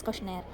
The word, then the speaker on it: questionnaire: going to see is questionary sometimes some say questionnaire so you can pronounce it anyway so questionary is the right word to spell but most of them will say questionary question even I say sometimes but right pronunciation is questionnaire so how to design